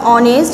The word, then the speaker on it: honest: ঠিক আছে, এইচ উচ্চারিত হয়নি, কনসোনেন্ট হওয়া সত্ত্বেও এইচ যে প্রথম অক্ষর এইচ সেটা উচ্চারিত না হওয়ার কারণে, ভায়েলের মতো হওয়ার কারণে তার পূর্বে তোমার কি অ্যান ব্যবহৃত হয়েছে।